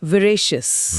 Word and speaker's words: veracious: शब्द है विरेशियस। विरेशियस। इसकी स्पेलिंग है VERACIOUS।